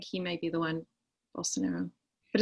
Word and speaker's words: Bolsonaro: How do you pronounce his name? It's Bolsonaro, the president of Brazil.